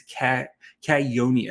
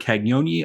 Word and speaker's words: Cagnoni: And yes, it's Cagnoni. That's the first question I asked him, is how to pronounce his last name.